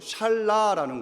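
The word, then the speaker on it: שָׁלָה: 자, 속인다라는 이 표현 히브리어 발음으로 하면 이렇게 됩니다. 잘 한번 기억해 보세요. 샬라라는 겁니다. 하나님이 나를 속이셨다라고 할 때 그 속인다라는 그 히브리어의 발음이 샬라입니다.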